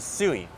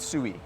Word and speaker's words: Sui: because every time when we first started pronouncing it, we said soo-ee, right? Yeah. And they said no, it's Japanese, it's swee.